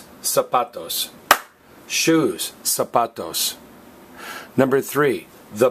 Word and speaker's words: zapatos: saputo's notice is pronounced zapatos not zapatos all right the letter Z makes the S sound in Spanish and you kind of